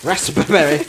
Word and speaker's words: raspberry: Raspberry. Raspberry. Oh, you don't pronounce it. Nobody does.